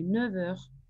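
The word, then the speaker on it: neuf heures: Et faites attention ici, on le prononce comme V. Il y a le son V. Il est 9 heures.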